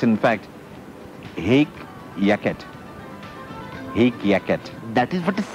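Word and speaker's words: hic jacet: to get back to the word the correct pronunciation of h i c j a c e t a hick jacket no it's in fact egg yaket yaket that is what it said it's a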